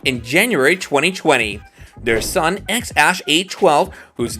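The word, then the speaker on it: X Æ A-12: Rogan Experience Podcast that X is spoken like the letter while the AE is pronounced like Ash bbx has appeared with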